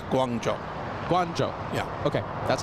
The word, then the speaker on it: Guangzhou: That's a different pronunciation, Kevin. Well, You just give me officially it's Guangzhou.